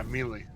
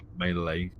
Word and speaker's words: melee: Yeah, melee. That's how it's pronounced. Not melee.